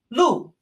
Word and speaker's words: 路: Our last character in this set is the character for street or road, pronounced lu.